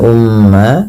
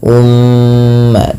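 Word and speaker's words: أمة: Lafal ummah di sini mimnya berharakat tasydid dan berwarna hijau, artinya ia bacaan ghunnah dan perlu ditahan dalam pelafalannya. Ya, ummah tidak langsung dilepas ummatan muslimatan.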